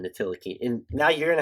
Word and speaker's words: Ntilikina: Well, they have Frank Ntilikina, so they should be a title contender. I still want to know why you're pronouncing the T in Ntilikina.